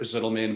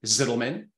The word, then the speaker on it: Zitelmann: I would pronounce it Ranier, although not technically proper in German, Zitelmann.